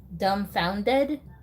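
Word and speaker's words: Dumbfoundead: found dead okay so the kid's name is dumbfounded but the last part of the name instead of it just being an ed he said it's spelled like the word dead d-e-a-d dumb founded so that's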